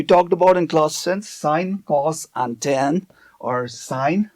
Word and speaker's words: sin: Okay, it's actually pronounced as sine, but we write it as sin, which is a short form of what it actually represents.